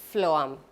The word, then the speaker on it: phloem: call them phloem bundles so the pronunciation is phloem phloem phloem bundles the spelling is p h l o e m phloem okay number three in